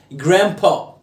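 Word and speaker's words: grandpa: ما تنطقش دي هنا في الامريكان اكسنت بعمل الدروب للدي الدروب يعني ايه امتى لما يكون قبلها حرف الان وراها حرف ساكن اوريها اي حرف جرام الجرام لا جرام برو يعني جدي ابو بابا طيب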